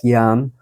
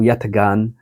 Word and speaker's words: Yatagan: is yagan or Yan I believe the g is silent in the Turkish language so Yan or yatagan I've seen both pronunciations